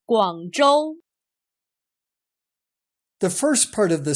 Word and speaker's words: 广州: Notice that in the Chinese name of the city, ZH is pronounced much like the English J, J. Remember the name. 广州 The first part of